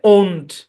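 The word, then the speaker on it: won't: could not okay তারপরে will not will not উচ্চারণ হচ্ছে ওন্ট দেখেন কি ছিল হয়ে গেল কি হ্যাঁ কি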